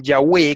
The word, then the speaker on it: Yahweh: Entonces, escrito con W, usted puede decir Yahweh, que es la forma antigua de decirlo, o también puede decir Yahvé.